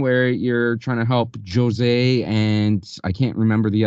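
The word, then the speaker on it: José: that he's Brazilian which means it's Portuguese which means it's pronounced Jose there's a whole thread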